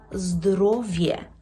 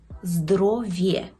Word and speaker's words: zdrowie: вимовляємо є кобєта Або здоровє здоровє так в кінці і е яке читається як є здоров'є Отже повторимо кобєта